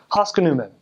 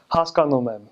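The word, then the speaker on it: հասկանում եմ: So like a bad accent would be like, if you're saying I understand, you'd say haskanumem. So you kind of like bounce over the second syllable. But a good accent would be like haskanumem, where you have the on that second syllable.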